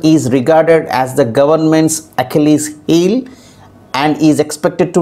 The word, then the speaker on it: Achilles: as as in zip so finally it has to be pronounced as achilles so the stress is on key so that is how